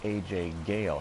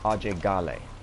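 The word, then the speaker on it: Ajay Ghale: being raised in America he goes by a Jay Galle himself however apparently the proper pronunciation of his name is ah Jay golly and you speakin spot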